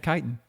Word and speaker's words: chitin: Yeah, chitin.